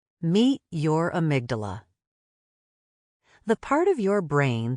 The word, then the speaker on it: amygdala: In fact, the word amygdala, pronounced amygdala, comes from the Greek word for almond.